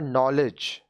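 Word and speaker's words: knowledge: है कि यहां पर नॉलेज के साइलेंट है नॉलेज ज्ञान नॉलेज ज्ञान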